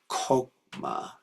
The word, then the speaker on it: Chokmah: Actually, I'm realizing that Chokmah is actually pronounced Kokma, and I think Chesed is Kesed.